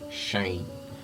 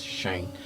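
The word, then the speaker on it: sinh: pronounce um signage as shine okay you pronounce it as shine so when integral Laplace transform of shine 80 you're going to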